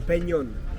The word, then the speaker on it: Peñón: Can you pronounce it? Peñón? ¿Pen o piñón? Peñón. P-E-N. N-E-O-N. O-N. Peñón. Peñón. Gracias.